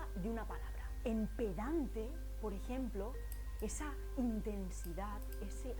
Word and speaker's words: pedante: una palabra por eso podríamos decir que pedante tiene acento en dan pero no tiene acento